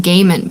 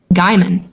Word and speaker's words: Gaiman: just read it okay I thought it was pronounced gayman but I've actually never heard his name said until now and then I was like wow guyman yeah I've never heard